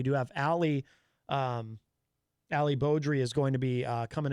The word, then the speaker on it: Beaudry: he sent me he always says Ali Ali badri but I believe it is pronounced Beaudry um let's see oh Crystal share that article